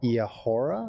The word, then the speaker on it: Eahora: that was released by Eahora. I think that's how I pronounce the company name. I think it's E-Ahora is what they said that their name should be called.